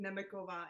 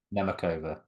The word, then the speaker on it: Nemeckova: name oh god oh so for the English version for English speakers I always pronounce it neova it's not the yeah neova okay zzan never neov